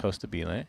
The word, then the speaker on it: Costabile: It almost sounds Italian. At least the way that I pronounce it. I don't actually know what it means. I think it's Costabile.